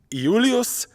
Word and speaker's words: Iulius: But if you took a time machine back to ancient Rome, you would ask to meet Iulius Caesar. There is no J and there is no soft C in classical Latin.